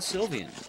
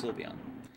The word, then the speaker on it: Sylveon: also net of the silvian silveon i always mix the two pronunciations i know it's sylveon by the tier 1